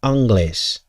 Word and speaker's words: anglais: france english's spell is is pronounced on anglais anglais which is like angel well that ain't no